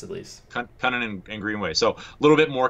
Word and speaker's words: Kunin: Kunin. That's what they say on the broadcast, at least. Kunin and Greenway.